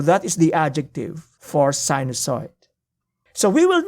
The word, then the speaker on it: sinusoid: reading the vast literature in circular function a sinusoid that is how you pronounce it so a sinusoid is a sine